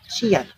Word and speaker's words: Qian: So thousands, 1,000 in Chinese is Qian. So Qian, that's spelled as Qian, as you can see on the screen.